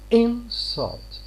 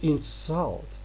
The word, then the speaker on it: insult: If you say an insult, look, I am stressing the first syllable here. It is a noun. But if I say to insult, it's a verb here. So I'm stressing the second syllable here.